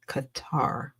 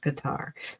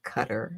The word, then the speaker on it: Qatar: It's pronounced guitar. Like a lot of people have, like I said, I know somebody that lived there like for a minute and it's pronounced Qatar. It's not pronounced cutter.